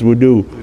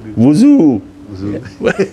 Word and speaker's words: wudu: That's how they pronounce wudu. Wuzu.